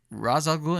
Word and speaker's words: Ra's al Ghul: Okay, so it's pronounced Ra's al Ghul in the films?